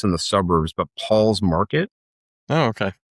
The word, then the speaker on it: Pahls: other one that I don't think is, I think it's in the suburbs, but Paul's Market. Oh, okay. It's PAHLS I've Market. seen that name now that you spell it.